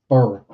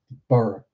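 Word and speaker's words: Burgh: Heck, we even got a place just just called Burough. B U R G H. They didn't give it anything in front of that. They just Burough.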